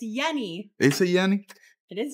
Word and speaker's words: Yenny: pronounced Yenni but my the y in Spanish is a j so everybody calls him Jenny not Yenni but in eng everybody